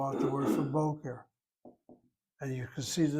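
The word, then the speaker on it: בֹּקֶר: This is an o-e, boqer.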